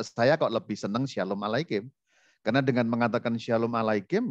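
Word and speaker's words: עֲלֵיכֶם: Jadi dibaca dari kanan itu shalom alei bacanya aleichem. Bukan alaihim ya. Nah, saya sering mendengar tuh shalom alaihim, heaven shalom alaihim, artinya lain kalau alaihim. Tapi ini aleichem, shalom aleichem.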